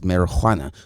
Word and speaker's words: marijuana: how you pronounce it pretty much in spanish it's marijuana with an h you know what i